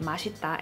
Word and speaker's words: 맛: So in the case of 맛, when it is followed by case number 1, then the 시옷 받침 is not pronounced as a 디귿, like the earlier pronunciation rule we discussed, but it is just pronounced as a 시옷, like the regular original 시옷 sound, that S or SH-ish kind of sound.